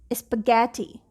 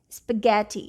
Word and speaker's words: spaghetti: the next word is spaghetti spaghetti you can hear go at the beginning of the next syllable okay the stressed part